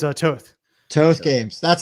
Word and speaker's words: Toth: Yeah, it rhymes with both, but nothing else. Goth, there you go. Sloth, moth, whatever, you know, so it's confusing. And now why Toth Games?